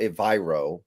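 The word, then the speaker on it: Evero: the internet that swear they are the right pronunciation for ayro evro which I believe that's actually correct that's what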